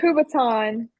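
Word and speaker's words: kubotan: It's called a kubaton.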